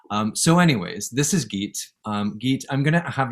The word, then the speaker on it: Gitte: have that and um the way that i say geet's name and i call geek but i usually i say geet and is how i would say that so if you're looking her up phonetically it's geet wintergrogard and i'll put obviously